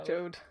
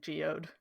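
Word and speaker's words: Jeod: or joe joe yeah jode even though from the way it's spelled it looks like it should be pronounced like geode that's how i was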